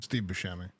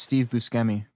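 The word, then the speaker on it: Steve Buscemi: Steve Bashami. It's Steve Busi.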